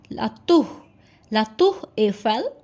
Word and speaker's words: La Tour Eiffel: So La Tour Eiffel, La Tour, R is pronounced as H, La Tour Eiffel.